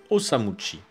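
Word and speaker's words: 治虫: fascination pour les insectes son nom d'artiste pendant un temps sera d'ailleurs osamuuchi qui prononcé à la japonaise se dit osamuchi et osamuchi désigne un insecte son premier studio s'appelle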